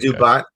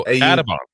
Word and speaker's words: Audubon: Adubon. Yeah, Adubon is where the high school. Adubon. Am I saying it right? Adubon is where. What town? Well, what town? Adubon. Oh, Audubon.